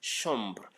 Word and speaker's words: chambre: Okay, in French, CH is pronounced as sh, not cha, not cha. CH in French is sh. Okay, for instance, chambre, chambre.